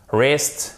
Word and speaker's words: wrist: my arm, le bras, wrist. On ne prononce pas le W, c'est pour ça que je vous le donne.